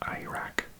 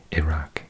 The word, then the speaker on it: Iraq: Iraq as we say Americans often say it Iraq because they pronounce an i at the beginning like an i Iran Iraq whereas in Britain we say e Iraq Iran yeah next one's quite